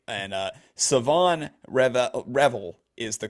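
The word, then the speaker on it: Shavon Revel: I actually thought it was also Siobhan Reveal, so I'm still having to autocorrect to the right way to pronounce it.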